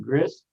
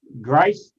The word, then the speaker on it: Ghrist: your honor and Mr Gris yes your honor am I pronouncing your name correctly I'm sorry gra Grace Grace well thank you and